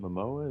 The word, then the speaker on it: Momoa: Is it Momoa? Is that how you pronounce it? Yeah, Momoa. Yes.